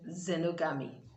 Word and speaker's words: xenogamy: so you see that the letter x loses its sound as soon as it begins a word so you have its xenophobia xylophone and then xenogamy alright over now to